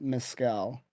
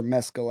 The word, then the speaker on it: Mescal: We are kicking off our month of Mescal, or Mescal, I believe is how it's pronounced.